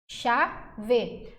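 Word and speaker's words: chave: isso aqui ó ó xave esse ch tem som de X eu não ouço o som do c e o som do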